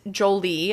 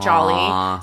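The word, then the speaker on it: Joly: And it's Jolie, I believe, not Jolly. So, it's J O L Y.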